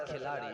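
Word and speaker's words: खिलाड़ी: It's pronounced as Khiladi and it means a player. Huh? In Hindi, it means a player in Hindi.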